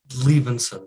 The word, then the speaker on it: Liebensohn: sun it's leaving said the H is silent so just leave inside leaving soon see I told you